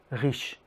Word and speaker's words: riche: But sometimes it's really important to pronounce it, such as in riche, rich. Je suis riche.